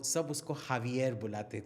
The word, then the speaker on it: Javier: शेरगिल, वो सब उसको हावियर बुलाते थे. हावियर, हावियर, इधर आ हावियर, because that's a Hispanic name, Javier. Written Javier, Xavier, but pronounced Javier.